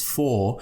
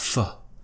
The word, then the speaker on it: for: usually it's pronounced as for in its strong form but we could pronounce it as fer with the schwa sound so F and then